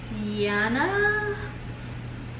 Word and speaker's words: Yianna: The name is Yana. It's spelled Y-I-A-N-N-A.